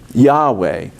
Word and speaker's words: Yahweh: and said so how in english would you say the name of god you'd say it ye ho va and that's where jehovah came from it's an absolute english mistake founded on a desire to uh honor the jewish reticents to speak the name yahweh and so um so